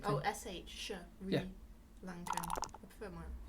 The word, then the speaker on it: Sri: Some people pronounce it with a H. Sri Lankan. Oh, no, Shri. Shri. Not Sri. Shri. Shri. Yeah. So where's the H? It's in someone else's language, so you don't say it.